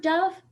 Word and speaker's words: dove: And you know what I like about the word dove? It rhymes with love.